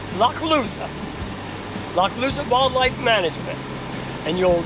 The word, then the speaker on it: Lochloosa: It's pronounced Lochloosa.